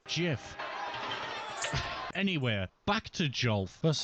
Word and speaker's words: GIF: I shouldn't, because it's canonically pronounced GIF.